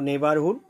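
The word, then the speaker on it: neighbourhood: নেইবারহুড আশপাশ বা পাড়া, বাংলা অর্থ, উচ্চারণটা হলো নেবারহুড।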